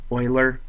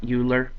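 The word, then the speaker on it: Euler: We're now looking at Oilers's theorem uh to figure out the number of edges on the frame of this house. Again, this is pronounced Oiler, not Uler.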